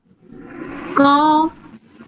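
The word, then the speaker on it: ق: কি কফ রাইট মাশাল্লাহ এটার উচ্চারণটা আরেকটু গলার ভিতর থেকে করতে হবে এভাবে কফ অফ কফ আচ্ছা তারপরে আচ্ছা এবার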